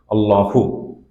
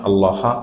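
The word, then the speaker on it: اللهُ: It's a Dhamma, like Allah. Allah is Allah, but the default sound, if we have to pronounce it, is Allahu. Not Allaha or Allahi.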